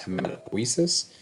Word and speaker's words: hematopoiesis: This one is amazing if you want to try to pronounce that without me saying it, but it's actually pronounced hematopoiesis.